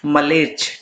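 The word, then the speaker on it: म्लेच्छ: ठीक है, इसकी सही प्रोनाउंसिएशन जो होगी वो होगी मलेच्छ।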